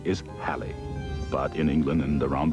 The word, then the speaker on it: Halley: forge modern predictive science by the way preferred pronunciation is Halle but in England and around the world linguistic license takes over Haley's now we pronounce it he pronounced so was